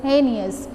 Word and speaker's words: heinous: Heinous, this is not heinous, this is heinous. H-Y, we have to give the sound like that.